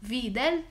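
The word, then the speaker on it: Widal: الواي اللي في الاول دي بتتنطق في، فتبقى اسمه فيدال ايه، تيوب اجلوتينيشن تيست.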